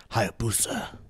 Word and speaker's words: Hayabusa: very expensive, very large V-twin or like a Hayabusa if you're into the whole crotch rocket thing. I just like the way you say it, Hayabusa.